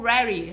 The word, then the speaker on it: Rary: O Otto e o Rary. Harry. O pronúncia é Rary, mas a gente não vai ficar falando Rary. Harry. Aí fala Harry, tá tudo certo.